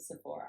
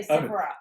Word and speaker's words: Sephora: So we pronounce it Sephora. Okay, But sorry. I think in the Sephora. Yeah, Yeah, no, in okay. the UK they used to say Sephora.